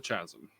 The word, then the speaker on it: chasm: the ground one on each side of the chasm it's pronounced Chasm Chasm Chasm man guys already had